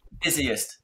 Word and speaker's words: busiest: mais Et t'as c'est vu- juste la prononciation, c'est busy, comme si c'était un i, busiest, Ah, c'est busiest Ok. qu'on dit, c'est ça? busiest, yeah. Mm. Comme un business, busiest, ok?